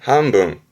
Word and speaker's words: 半分: 발음은 한분, 한분.